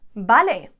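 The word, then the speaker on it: vale: means okay or right balay remember that we pronounce the v's as a b simple but efficient me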